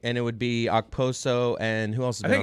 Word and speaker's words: Okposo: Because I always hear people just go Oposo. Like the K is almost silent.